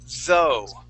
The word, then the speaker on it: though: for example the word though okay okay when we pronounce that th you want to stick your tongue between your teeth okay we say though